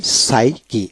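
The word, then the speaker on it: psyche: যেমন পিএস মানে সাইকি, এখানে পীর উচ্চারণ হবে না, সাইকি আত্মা মন।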